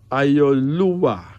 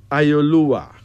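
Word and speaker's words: Ayoluwa: Ayolua. Yeah. Ayolua.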